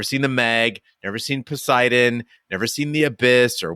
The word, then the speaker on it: Poseidon: asked to go see Poseidon when it came out in uh theaters but the woman who asked me to go pronounced it posidon I didn't recognize that